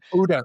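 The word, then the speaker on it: OODA: I'm not sure if I'm pronouncing it correctly, but essentially UDA. UDA. Yeah. Oh. Oh, yeah. Yes. You either spell out the acronym or UDA. UDA is often what I've heard.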